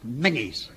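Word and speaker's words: Menzies: mangies a big a it's pronounced mangies is it yeah good well General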